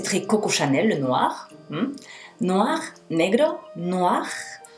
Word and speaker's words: noir: Noir, negro, noir. OI forma wa. Noir, noir. Y el gargarismo del final es superfluo. Noir, noir, noir, noir.